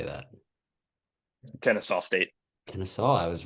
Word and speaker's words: Kennesaw: Kennesaw. I was right. That one looked a little You're more complicated. I've never heard of that one before. good. Yeah, this Xavier Kennesaw State matchup favors Xavier heavily, understandably so.